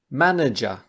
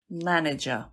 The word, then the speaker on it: manager: Manager. Manager. 3 syllables. Stress is on the first.